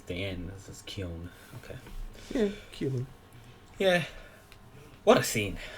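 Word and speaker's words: Keoghan: joker how do you say his name barry kyon kyon okay i wasn't sure how to say it yeah i actually thought it was kyo but it's not then it's the end this is kyon okay yeah what a scene what a fight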